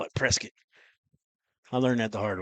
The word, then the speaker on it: Prescott: Prescuit. Yeah. Down here in the south. You got to say it right. They don't say Prescott.